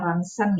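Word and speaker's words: rontgen: Nah, bidang kedokteran ini contohnya ada sinar ronsen yang pertama. Itu bacanya sinar ronsen ya, supaya lebih familiar aja, pasti kalian sering dengar yang namanya sinar ronsen.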